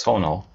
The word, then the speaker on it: Sonal: we start I want to make sure I pronounce your name correctly it's Sono right yeah very well so it's uh the